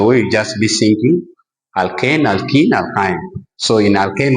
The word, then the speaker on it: alkane: Sometimes students cannot pronounce this thing very well, but we call this one alkane with the A. With the E we call it alkene. Then with Y we call it alkyne.